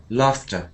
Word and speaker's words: laughter: da lter and tickery when you say laughter say F laughter laughter laughter and Cher